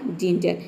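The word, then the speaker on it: ginger: है, ठीक है, तो यहाँ पे भी हम जी को क्या प्रोनाउंस कर रहे हैं, ज प्रोनाउंस करें, यहाँ पे ज होगा, ठीक है। और देखिए ई आर का हो जाएगा आर, ठीक है, ये हो जाएगा आपका जिंजर।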